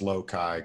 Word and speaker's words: Lokai: It's pronounced Lokai Cross, but it's just, oh. Yeah, Lokai. The capital I is for the Lokai.